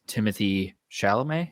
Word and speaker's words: Timothée Chalamet: The first one is Timothée Chalamet.